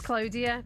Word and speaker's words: Claudia: It is Claudia. Well, very good morning to DJ K, who texted in to say it's pronounced Claudia in English and Claudia in Spanish.